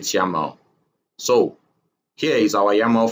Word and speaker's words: YAML: They pronounce it YAML.